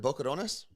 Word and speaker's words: Boquerones: Boquerones?